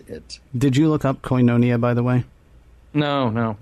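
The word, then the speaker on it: Koinonia: U we were southerners so we called it coinia because we didn't know any better but it's actually pronounced coonia.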